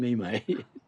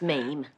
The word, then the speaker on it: meme: Tony just sent me a very funny mate. It's pronounced meme.